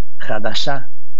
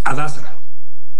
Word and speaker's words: Hadassah: A ver, este hospital, Hadashá, ¿cómo se pronuncia? Hadassah. Ahora sí que con la H muda, Joaquín.